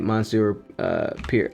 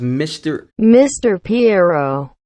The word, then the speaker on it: Monsieur Pierrot: This is French, and it's pronounced Mr. Piero.